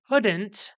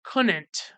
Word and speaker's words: couldn't: Charlie instead of saying couldn't he pronounces it as couldn't like just replacing the D with another n or something like go